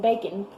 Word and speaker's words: bacon: waffles, eggs, and bacon, doesn't it sound like I'm just saying B-A-C-N? Bacon. Bacon. So, in conversation, we just say bacon, bacon, but it's spelled bacon, okay? So that's one of those tricky words.